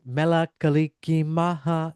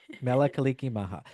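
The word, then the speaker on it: Mele Kalikimaka: And if you don't know how to say it, it's Mela Kaliki Maha is the way to say Merry Christmas in Hawaii. Yep. Mela Kaliki Maha.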